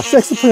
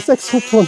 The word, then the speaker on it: 색소폰: 아 , 이 색소폰 은 ' 섹스폰 ' 이 아니라 ' 색소폰 ' 이에요 . 사람들 이 잘못 발음 하는 거 정말 싫어요 .